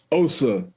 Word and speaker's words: Osa: can't pay back what oi oaza did I pronounce that right Osa Osa yes y it's good to be here